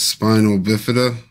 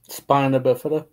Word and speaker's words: spina bifida: see Jonathan's interview but he has spinal bifida did I pronounce that right spina bifida yeah that you have to